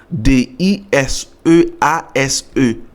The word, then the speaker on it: disease: courant capable dit qui écrit d i euh d i s e a s e disease ou peser sous deuxè syllabe là parce que à chaque mot prononcer